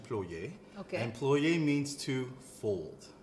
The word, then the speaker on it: ploye: know no no okay so in french it's actually ployee okay employee means to